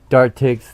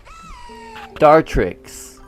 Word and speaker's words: Dartrix: But he he mispronounces the Pokemon names on purpose. That's why I said that. I have not read Dartik's dialogue. Sorry. Dartrix, the blade quill Pokemon.